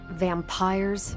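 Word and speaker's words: vampyres: The new breed I'm tracking are, they're vampires. I see. No, I do not. You already said they were vampires. Vampires with a Y? Pronounced exactly the same as vampires.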